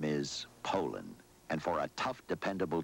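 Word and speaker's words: Poulan: And for over 30 years, they've been mispronouncing our name. Poland. Poland. So we'd like to remind you that our name is Poland.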